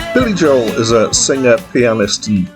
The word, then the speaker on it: Joel: Let me just pause and say people pronounce his surname in different ways. Somewhere between Joel, which is one syllable, and Joel, which is two, and Joel, which is also two, but with a different emphasis.